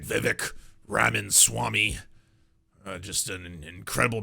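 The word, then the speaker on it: Vivek: hey by the way my name is Viv it rhymes with cake it's very easy there you go please learn my name and everyone's like yes well you're one of the good ones Vivic uh what did Alex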